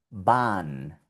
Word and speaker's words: Bahn: Aquí también ves de nuevo la H seguida de una N. Bahn. Bahn.